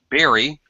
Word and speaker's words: bury: is the verb to bury it actually is a homophone Berry and it's a it's a homophone with berry like you eat a strawberry raspberry blueberry it sounds exactly the same berry berry so the